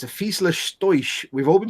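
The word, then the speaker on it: Fieseler Storch: If I remember rightly, it's Fiesler Stoisch. It's a Fiesler Stoisch. We've all been pronouncing it wrong in German.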